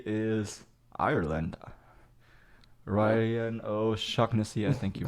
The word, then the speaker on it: O'Shaughnessy: Ryan O'Shaughnessy, I think you pronounce it. Yeah, O'Shaughnessy.